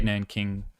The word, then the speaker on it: Nanjing: And there's a city called, I think it's Nanjing, or they say Nanking, how they used to pronounce it, but anyways.